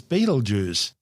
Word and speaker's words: Betelgeuse: Rion shoulder or armpit although we're calling it bleg it's also commonly known as Beetle Juice both are mispronunciations of the original Arabic name iaza meaning the